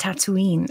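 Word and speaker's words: Tataouine: no there we go it's spelled like that but it's pronounced tatooine and then the planet in star wars is named tatooine like how calm spelled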